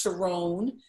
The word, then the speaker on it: Sharon: It's spelled Sharon, but it's pronounced Sharon.